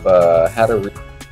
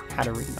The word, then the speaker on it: Hatterene: So next up, guys, we have Hatterene. Yeah, I think that's how you say that. I was pronouncing it wrong this whole time. Hatterene, okay.